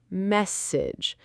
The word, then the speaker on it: message: Listen, message. The stress is on the first part of the word, message.